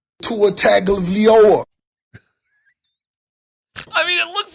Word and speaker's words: Tagovailoa: No, the correct pronunciation is Tagovailoa.